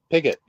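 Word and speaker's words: Piggott: this is technical help stewart p-i-g-g-o-t how do i say that pick it really that i i that's how i uh you know it's stewart pickett yeah i just couldn't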